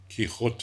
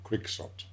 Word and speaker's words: Quixote: Mana which refers to Don kot which is what he calls himself which is correct Spanish pronunciation we know him perhaps more as Don quiot and adjective ktic here